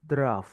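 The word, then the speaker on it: drought: teman-teman next we have draw Coba bareng-bareng ya Dra DR DR DR walaupun tulisannya drog ya teman-teman ya Tapi bacanya adalah Dra nah kekeringan betul Sin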